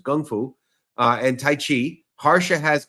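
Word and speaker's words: Kung Fu: awesome uh systems like Gung Fu right that's a proper pronunciation everyone says Kung but it's Gung Fu uh and taii Hara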